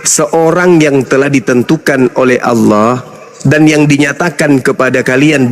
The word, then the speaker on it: Allah: Itu ada, itu A-L-L-A-H. Itu ada. Ya, itu bacanya apa? Allah. Karena ini berasal dari Quran, maka kami membacanya Allah.